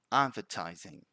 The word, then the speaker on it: advertising: so this word is advertising advertising so what happens here is that sometimes people put more stress than required in that d and they say advertising advertising see it's not that